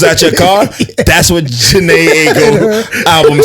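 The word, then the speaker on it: Jhené Aiko: Janae Aiko.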